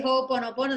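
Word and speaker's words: Ho'oponopono: to pronounce it but it's relieved it's oh like you know when you say hohoho or sada class so it's oh and then it's opponent opponent and that's mean it's a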